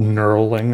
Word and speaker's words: knurling: or sometimes that's called knurling, I guess. That's a cool word. Say it with me. Knurling has a silent K at the beginning, which is also fun.